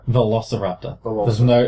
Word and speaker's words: Velociraptor: Velociraptor. It's not lol. Velociraptor. There's no lol.